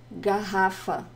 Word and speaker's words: garrafa: Garrafa. Garrafa. I have a lesson on the pronunciation of the R in Brazilian Portuguese.